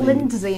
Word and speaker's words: Lynsey: In fact, you don't pronounce it D, it's not Lynsey. It's not Lynsey, no, it's Lynsey.